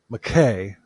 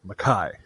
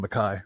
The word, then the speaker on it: Mackay: monster Patrick David McKai is actually spelled McKay but it's pronounced maai so I'm just going to call him Mai I might I might